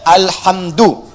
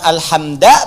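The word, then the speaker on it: الحمدُ: Dibacaannya alhamdu, bukan alhamda pakai fathah atau alhamdi pakai kasrah.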